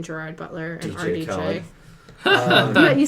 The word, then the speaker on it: Khaled: Khaled. You said the name wrong. You gotta say it with DJ Khaled.